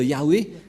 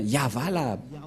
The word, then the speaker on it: Yahvah: que dans la translittération, ça ne devrait pas du tout être Yahweh qui ont induit en erreur les catholiques romains, car dans le Sefer Torah, c'est bien Yahva la prononciation, et on va prendre en photo, car certains aussi disent que c'est Yahwa, mais pas Yahva.